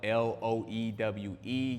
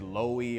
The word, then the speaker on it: Loewe: it, but it's spelled l o e w e. You may see it and pronounce it as Loewe or low, but it is a Spanish brand, so it is Loewe.